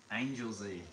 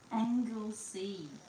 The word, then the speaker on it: Anglesey: Luke, please say Angel Z. That's not it. What do you mean it's not it? Oh, goodness. So, literally you know how to say it now. Yeah, what is it? Anglesey, like angle.